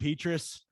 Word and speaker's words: Petras: Is it Petrus? How do you say it? The announcers were saying Petras. I think Petrus is way cooler, but let's go with Petras because that's how that must be what the huge big guy.